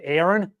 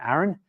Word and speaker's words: Aaron: u h my name when I use with American models it's always Aon no it's A's not e um not Aron I'm Aaron hard days not soft